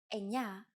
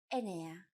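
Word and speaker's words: εννέα: Sometimes, though, especially in casual conversation, Greeks also use efta instead of epta, ochto instead of okto, and ennia instead of enea.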